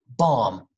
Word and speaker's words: bomb: see m b together when you see those together do not pronounce the okay just say climb bomb num you know that song